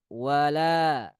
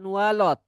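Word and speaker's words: ولا: Ada sebagian yang malah membacanya dengan lo, dengan lam tebal. Ya, padahal lamnya tidak tebal. Yang tebal hanya bod. Walau bo, walau bo, bukan walot, tapi wala, wala masuk ke bod.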